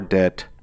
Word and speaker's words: debt: the middle I mean you say debt but d e b t so what the B is silent English